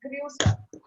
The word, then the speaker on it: Grüße: It's double S, beta sign here, and U with umlaut with those 2 dots. So we pronounce it as Grüße, which means greetings.